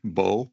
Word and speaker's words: bow: And that when you say bow with a O sound, and in Spanish, arco.